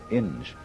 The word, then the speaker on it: Inge: Inge, or Ing, I think it's pronounced.